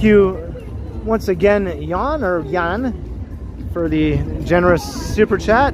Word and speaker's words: Jan: Over here you're just used to pronouncing the letter J a certain way, so thank you once again, Jan, or Jan, for the generous super